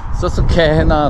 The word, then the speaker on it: Susquehanna: 펜실베니아의 아름다운 강, 서스케헤나, 스케헤나, 얘네들 발음이 스케헤나 했는데 쾌가 잘 안 들린 것 같았어요. 캐나 그러더라고요. 그래서 캐나 그러더라고요. 그래서 그러니까 쾌 발음에 헤 액센트가 있었던 것 같아요.